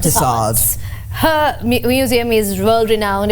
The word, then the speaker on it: Tussauds: Tussauds. Tussauds.